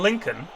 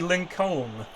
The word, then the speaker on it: Lincoln: make any sense shouldn't be Southern I mean Lincoln should be Lincoln but it's not it's got a silent L